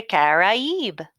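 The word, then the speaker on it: Caraïbe: truth dawn lemare tu cara EEB we don't often see this accent like we see the others it lets you know that you want to pronounce the a and the I both but separately Cara EEB Donlon or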